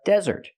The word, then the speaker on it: desert: review this is a desert put the stress on the first syllable it's a noun it's a countable noun this is a desert